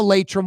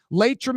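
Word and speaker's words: Laitram: Go to the Latum website right now. Latum is spelled L A I T R A M for a full listing of positions available.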